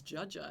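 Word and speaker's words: dziadzia: I mean, it's funny, the word for grandfather and her grandpa in Polish is Judja. Yeah, really. So his name was actually Judja. It's spelled like DZIA. Yeah.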